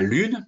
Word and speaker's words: lune: tous les cas de mots qui se terminent par un E muet, comme la lune, par exemple, eh bien,